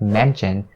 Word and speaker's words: mention: And notice the way that I say the word mention. I didn't say mention, because mention is the way that the dictionary suggests you to say or pronounce this word. Whereas the majority of North American people will say mention. They turn the sh sound into the ch sound and they say mention.